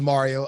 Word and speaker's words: Mareo: big one all right so my name is mario and it's spelled with an e mario is spelled with